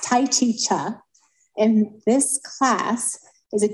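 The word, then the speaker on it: Tai Chi Chih: point so I learned first of all it's pronounced Tai chicha in this class is a different version of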